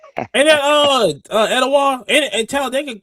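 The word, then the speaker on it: Etowah: Ain't that uh Edawa and Talladega like north south the border.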